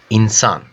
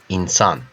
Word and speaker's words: insan: And how we pronounce? Inside, insan. İnsan.